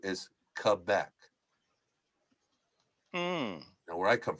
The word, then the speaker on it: Quebec: and the phonetic pronunciation for Q is Quebec. Mm. Now, where I come from, it's the province is Quebec, right?